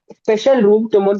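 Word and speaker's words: तुमुन्: तुमन तुमन तुमन। तुमन क्या होता है? तुमन तो मैंने पढ़ाया ही नहीं। तुमुन, तुमुन सॉरी, तुमुन।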